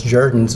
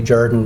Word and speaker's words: Jordan: the founder koinonia clarence jordan's name correctly jordan not jordan but they say that